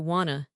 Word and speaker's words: wanna: Want a and want to both reduce to wanna.